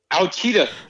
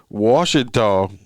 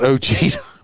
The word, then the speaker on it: Ouachita: Anyway, while we're making fun of it, is Ouachita is spelled Ouachita. Ouachita Parish. So it's not Ochita.